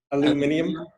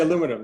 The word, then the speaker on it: aluminium: You ever heard of someone from Britain say aluminium? Aluminium? Yeah. They don't say aluminum. It's aluminium. They changed the whole.